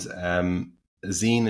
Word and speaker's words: zine: And zine is short for magazine. That's where the word comes from. It's pronounced zine, and I basically describe it as a DIY cartoon.